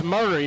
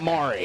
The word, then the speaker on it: Murray: It's Murray, not Mari.